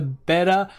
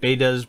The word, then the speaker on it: Betta: So I think I said it right. Betta, right? Not beta?